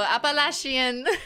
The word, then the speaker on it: Appalachian: I know that literally municipality in Quebec so Appalachian I know that's not correct but there you